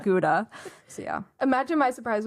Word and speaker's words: Gouda: And I'll see Gouda on the shelf, and she's like, oh, no, that is Gouda. That is not Gouda.